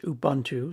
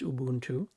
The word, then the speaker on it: Ubuntu: Ubuntu um it is a Zulu word it's not pronounced Ubuntu so please stop doing that it's Ubuntu um and we're going